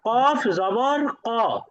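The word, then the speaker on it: كَ: পার্থক্য হলো, পাতলা হরফ উচ্চারণ করার সময় মুখটা স্বাভাবিক থাকবে, চ্যাপ্টা অবস্থায় থাকবে। কিন্তু মোটা হরফ উচ্চারণ করার সময় মুখটা গোল হয়ে যাবে।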